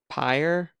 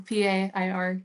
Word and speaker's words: Pair: And then Stephen Pyre or Pair. It's Pier? exactly, it's Pair. It's exactly as it's spelled, like a pair of Okay. shoes or something.